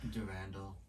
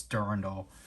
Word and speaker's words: Durandal: is, like, Randall, but I think it's supposed to be, like, a U instead of an A, so that's why it's Durandal. Yeah.